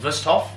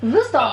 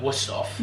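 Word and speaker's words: Wüsthof: I pronounce it the German way, 𝑭𝒊𝒏𝒅. 𝑭𝒊𝒏𝒅. A lot of people would call it 𝑭𝒊𝒏𝒅.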